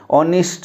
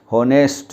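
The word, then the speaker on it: honest: ऑनेस्ट, ऑनेस्ट का मतलब होता है ईमानदार, और हम इसको क्या बोल देते हैं, होनेस्ट, बिल्कुल गलत।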